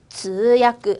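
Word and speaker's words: 通訳: 우리 통역이라고 역자를 야크라고 읽어볼게요. 통역 읽어볼게요. 시작. 直야크 한 번 더.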